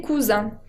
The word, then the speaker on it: cousins: Ahora, para hablar de los primos, on dit les cousins. Les cousins, au pluriel, termina con una nasal, la I con N, que se pronuncia un, como el número 1.